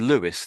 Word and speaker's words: Louis: Yeah, you can pronounce it that way. Yeah. So yeah, but being that we know it's it's in France and in Paris, then it's I'm just saying it the French way.